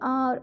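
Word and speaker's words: hour: आर यहाँ पे जो एच है हमारा वो हो जाता है साइलेंट, एच को तो प्रोनाउंस करते ही नहीं है हम लोग क्या बोलते हैं, आर ओ से स्टार्ट होता है, ओ यू आर आर के बोलते हैं।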